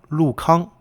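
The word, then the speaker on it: 陸康: Even though the first character are both spelled Lu, they're pronounced a little differently, different tones.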